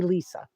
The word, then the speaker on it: Lesa: another question um and my name is spelled l s a it confuses people people but that's how you spell my name LSA and you say Lisa um did I check